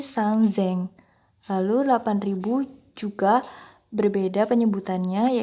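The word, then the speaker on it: 三千: 3.000 sangzeng, bukan sangseng, tapi sangzeng.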